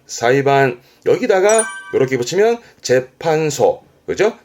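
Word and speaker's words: 裁判: 발음은 사이반. 사이반.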